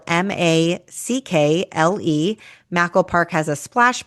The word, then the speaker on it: Mackle: That's spelled M A C K L E.